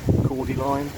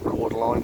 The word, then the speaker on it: cordyline: it called e line chord line um that is obviously harris spell but the way i've always said it's quarter line so i'll keep on saying it that way so these two side